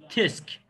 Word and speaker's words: tsk: Tam bu sesi yazı dilinde göstermek için yapılan TSK diyece TSK TISK TISK TISK diye okunuyor. Tamam, umarım yararlı olmuştur.